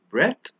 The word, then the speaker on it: breath: the park the next pair of word is breath versus breathe remember when we put e at the in we always stretch and pronounce it as breathe but without the e